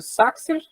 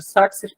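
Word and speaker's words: Sachsir: Tive que ir para a Alemanha para aprender que meu nome a vida inteira foi pronunciado de maneira errada, mas vou continuar aqui com o Saxer, né, para manter as tradições do meu pai.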